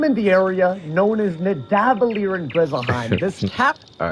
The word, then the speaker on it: Nidavellir: He said Navada. But yeah, to not be all over the place, it's the correct pronunciation is Nidavellir, because in the MCU, in Marvel, in terms of Thor or whatever, when he was traveling there, they was like on the path to Nidavellir.